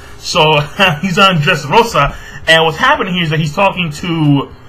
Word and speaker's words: Dressrosa: Alright, say it like a Spanish, Rosa. So, he's on Dressrosa.